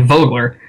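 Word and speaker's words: Vögele: It's the same thing with, with the Wirtgen Group's paving lineup, which is Vogler, and it looks like Vogel or whatever, but it's actually Vogler.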